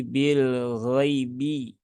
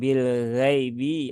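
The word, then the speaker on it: بِالْغَيْبِ: ghaibi ya di sini ada huruf Lin ya Ya Sukun setelah fathah maka ini dibaca dengan halus ya jangan disentak Jangan dipaksa dan Ya Sukun itu vokalnya adalah bunyi i jadi Bil ghaibi bukan Bil ghaibi ya bukan Bil gaibi atau Bil ee apa yang sering itu ya Bil gaibi ya ini kurang tepat karena itu nanti bacaannya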